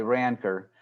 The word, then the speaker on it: rancor: in there but anyways in the united states we say ranker and you can spell